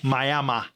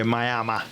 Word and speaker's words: Miami: became in Reverse well at that time it was mayama May if you look in Old School miam resident they will say mayama and that's probably how